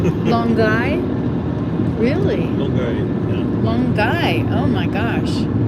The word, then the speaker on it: Longueuil: But I thought that, see, we're going to Longueuil. Longueuil? Really? Longueuil, yeah. Longueuil, oh my gosh. Right. Not Longueuil.